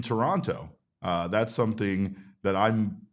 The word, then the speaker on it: Toronto: Uh, also another thing as we are finding out, uh, you do not pronounce the second T in Toronto.